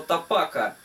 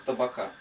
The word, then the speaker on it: тапака: имеет никакого отношения а оно появилось в результате огру бле слова тапака а тока представляет из себя сковород и пос так сказать изза неправильного произношения вот название у нас закрепилось как цыплёнок табака вот сковородка вроде уже